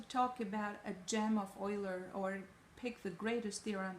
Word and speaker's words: Euler: Leonhard Euler is not pronounced Euler, is pronounced Euler.